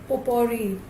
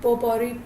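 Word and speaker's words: potpourri: यस, पोपोरी। हाँ, पोपोरी, पॉट में T silent है।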